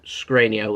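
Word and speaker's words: Škriniar: have been requesting I talk about is Milan scrano that's how you say his name scr Scania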